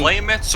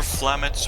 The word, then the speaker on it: Flametz: Is it Flametz or Flametz, or how do you pronounce that? Either way works.